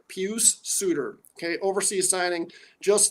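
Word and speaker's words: Pius Suter: oh oh sorry pcp i can never not pronounce this guy's name right pew suitor okay overseas signing just like dominic kubalik was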